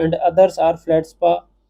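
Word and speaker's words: feldspar: And others are flat spa, ये flat spa होता है, इसमें आर साइलेंट होता है।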